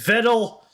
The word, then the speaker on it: Vedal: Viddle always I like how she pronounces his name Viddle, though it's Viddle.